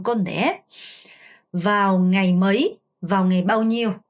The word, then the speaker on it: mấy: 그리고 발음하실 때 뭐이 아니고 mấy, mấy 어가 짧고 y에 강세를 주는 발음입니다. vào ngày mấy 이렇게요.